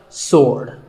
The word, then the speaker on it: sword: sword but that is totally wrong it's just sword and here's one last word with silent letters close but what's silent here well first